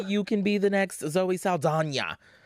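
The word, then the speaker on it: Zoe Saldaña: Maybe you can be the next Zoe Saldana. Because that's how you say her name now. Not back in my day, we called her Zoe Saldana.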